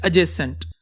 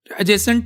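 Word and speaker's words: adjacent: पे एडजेसेंट तो बेटा जहां पे डी और जे का क्लस्टर आता है ना तो जे को हमेशा डी को हम साइलेंट करते हैं तो the word is एडजेसेंट एडजेसेंट टू होता है मिला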